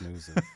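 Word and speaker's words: NIUS: Yeah, the Fox News. Yeah. N I US, which is if you pronounce it in German, it sounds like news.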